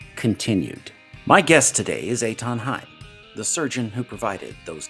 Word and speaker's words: Eithan Haim: yeah, my name is Etonheim. Um, it's spelled, my first name is spelled Ethan. It's a Hebrew name, but it's uh spelled in German phonetics.